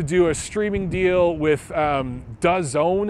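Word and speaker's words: DAZN: a streaming deal with does own is how it's pronounced it's it's a company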